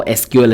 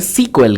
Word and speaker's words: SQL: if you're wondering how SQL is pronounced it is pronounced as either SQL or it's called sequel guys pretty much you will find developers enthusiasts and many others either calling it SQL or sequel so whenever you heard